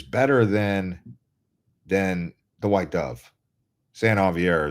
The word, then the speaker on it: San Xavier: San Javier is how you say it. It's San Xavier. It looks like it's San Xavier, but it's San Javier.